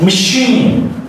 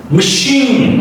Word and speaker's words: machine: So it sounds like machine. Machine, okay? Machine. I is very much stressed here.